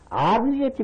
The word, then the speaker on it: 아귀: 어국이지 먹는다 했는데 그 발음을 잘못하는 겁니다. 아귀같이 먹는다 그래. 아귀.